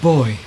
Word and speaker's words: Booy: Boy.